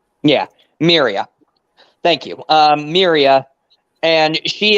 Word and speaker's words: Miria: Miria. Yeah, Miria.